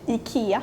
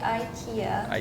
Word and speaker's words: IKEA: it's more maybe Ika in Sweden we say Ika in America we say Ikea in Denmark we say Ika in Finland we say Ika in Norwegian we say